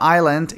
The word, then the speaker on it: island: The island je ostrov. Pozor, nevyslovuješ žiaden Island, hej, je to iba Island, to esko tam je tiché.